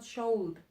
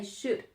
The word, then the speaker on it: should: the pronunciation is not sholde the L is silent so you must say I should I should in the